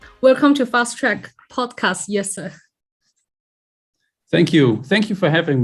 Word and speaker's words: Jesse: chat with actually in dutch his name is pronounced as yes sir right indeed yeah so